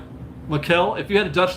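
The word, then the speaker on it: Maikel: Because the M-A-I looks like a Mai to me, like a Mai Tai. So it's Makel.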